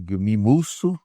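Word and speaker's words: Guillaume: um autor francês, né, eh, Guilmi Isso, né, Guilmio, na verdade, a pronúncia.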